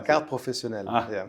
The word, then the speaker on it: carte professionnelle: You have the carte professionnelle. Yeah. Jesus Christ, that was a really bad pronunciation. Can you say that, please? How do you pronounce la carte professionnelle.